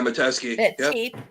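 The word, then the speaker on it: Metesky: destruction of the Consolidated Edison besides uh m medeski is that how you say it yeah mateski uh he had a grudge against the company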